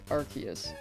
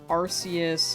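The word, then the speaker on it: Arceus: I say Rayquaza uh the pronunciation was arus and then it changed to Archus cuz I think it realiz it sounded like a naughty English word.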